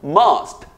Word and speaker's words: must: 근데 원어민들은 이거 머스트라고 발음하지 않고 must 이렇게 발음을 하죠.